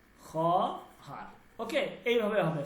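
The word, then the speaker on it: خواهر: না উচ্চারণ হবে না ওকে উচ্চারণটা কি হবে উচ্চারণ খহার ওকে এইভাবে হবে খহার ঠিক আছে মানে হচ্ছে বোর্ড খর মানে কি বোন ক্লিয়ার এই ওয়াওটা উচ্চারণ হবে না।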